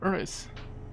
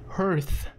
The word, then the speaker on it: Hearth: A cave at the very center of the timber earth. I'm gonna keep mispronouncing that and I'm sorry, but it's just very awkward for me to read it right. Hearth.